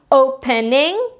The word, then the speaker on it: opening: I'm trying to say opening though I have a single vowel and a single consonant that ends the word my open being the stress syllable is the first syllable not the last syllable I don't double my